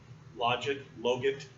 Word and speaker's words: logit: I asked my dissertation advisor this afternoon, how do you pronounce that? Because I've heard logit, logit. He says the correct way to pronounce it is logit.